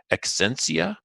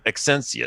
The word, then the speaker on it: Exscientia: give a guess here, Exscientia. I'm going to guess how to pronounce it. EXSCIEN for like science.